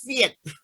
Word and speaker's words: PHEIC: Now, of course, this is just a legal thing, but Keiji Fukuda tells me it's pronounced Fiat.